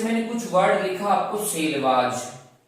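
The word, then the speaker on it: Selvas: कुछ वर्ड लिखा आपको सेलवाज, सेलवाज, तो इसका अलग ब्रिटिश प्रोनाउंसिएशन सेलवास भी होता है।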